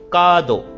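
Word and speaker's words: カード: तो यहां पे देख रहे हो मेरी जब मैं बोल रहा हूं का दो। यानी कि मैं यहां पर एक्सटेंड करके बोल रहा हूं। सिर्फ और सिर्फ का दो। ऐसे नहीं बोल रहा। का दो।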